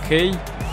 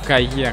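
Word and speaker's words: Kaye: Да, я знаю, что, скорее всего, фамилия произносится как Кай или Кей. А я буду называть его Кае.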